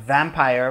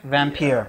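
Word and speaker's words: Vampyr: I feel like you should be saying it Vampire. Vampire. Yeah, because it's spelled with a Y, so we should be saying Vampire.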